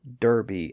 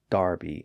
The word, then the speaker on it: Derby: same thing happens with the towns that Americans call Derby and Berkeley but Brits call Darby and Barkley or Derby and Barkley